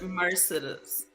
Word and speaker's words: Mercedes: It's Mercedes. I always tell people, think of Exodus, Mercedes.